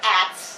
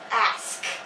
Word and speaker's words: ask: It is not at, it is ask. It ends with a K.